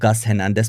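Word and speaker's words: Hernández: And then, of course, we have Milan Skriniar, Lucas Hernandez, because I think that the pronunciation is Spanish, Marco Asensio, Lee Kang-in, already injured.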